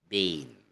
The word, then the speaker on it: been: so for example bin bean bean okay it's pronounced as bien or bien or Bean instead of a short I've been okay so